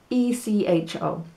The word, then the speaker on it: hecho: i miss you and it sounds the same but the spelling is different echo is spelt e-c-h-o but what we're studying esta semana starting today is echo which is spelled h e c h o and it